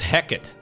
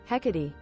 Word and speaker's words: Hecate: mispronounced this map too I have been pronouncing this as heckit is that not correct heckerty hecatee no heckity heckity heckity what does it mean heckity hecatee hecatee yeah a goddess an ancient